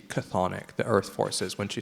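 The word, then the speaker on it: chthonic: idea of Earth forces cathic forces and this is spelled from the Greek CH h t h n i c cathic the Earth forces when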